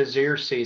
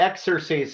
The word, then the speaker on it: Xerces: the Xerces society and and that's how it's pronounced the zrc society I've heard it pronounced the exersice society but that's not how I tend to pronounce it we're named after the